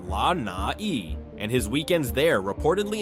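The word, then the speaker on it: Lānaʻi: 98% of Lai, pronounced La Na, and his weekends there reportedly involve everything from sailing to overseeing his private hydroponic farms.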